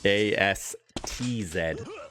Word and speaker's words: Astz: Yeah, I got to really make sure I pronounce that T in that guy's name, dude. AS TZ. If you miss the T, you're swearing and then YouTube flag.